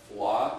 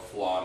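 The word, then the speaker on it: fleadh: She also won the Mid-Atlantic FLA champion, and I didn't know what FLA meant, and you spell it F-L-E-A-D-H, so I guess it's a Gaelic or Celtic word, but it means festival.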